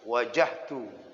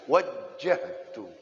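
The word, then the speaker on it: وَجَّهْتُ: ilaika wa wajah tuh jangan dibaca wajah tuh ah jadi bacanya Gan waktu sholat Allahu akbar kabiro walhamdulillahi katsiro wa Subhanallah ibukota wasilah wajah-wajah Iya tasdid gym nya wajjahtu wajah Tum Ho Hai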